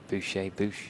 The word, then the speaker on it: Boucher: Boucher, yeah, there you go. Boucher. Yeah, you're right. Nice little French twang to it.